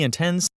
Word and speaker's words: intense: Sometimes it's really intense. Sometimes it's really intense. Sometimes it's really intense. So here we have a 2-syllable word with stress on the first syllable, and here it's on the second syllable.